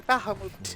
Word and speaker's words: Bahamut: It's just, you know, it's made by Japanese people, so I use kind of like a Japanese pronunciation of the words. So it'd be Bahamut.